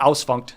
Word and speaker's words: Ausfunkt: All right, this is Ausfunk. Am I pronouncing yeah, that right? Ausfunkt.